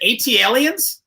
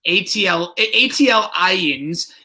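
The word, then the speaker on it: ATLiens: Is it AT Aliens? Yep, that guy butchered it on the. Hold on, let me do my best. AT Aliens. ATL Aliens is a second studio album by American hip-hop duo Outkast.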